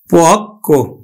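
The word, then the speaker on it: পক্ব: যেমন দেখো পক্ক, পদের শেষে ব ফলা আছে, তাহলে ব ফলা যুক্ত বর্ণ ক, এই কটা কিন্তু দুইবার উচ্চারিত হবে। পক্ক, আমরা উচ্চারণ করি কিন্তু পক্ক।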